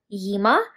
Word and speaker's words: Gyimah: this photo from Vanessa Yima. I'm pretty sure the G is silent.